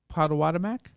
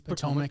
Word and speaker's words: Potomac: What did you say? Potomac. Potawatomac? Said Potomac or Potomac. It's Potomac. It's Potomac.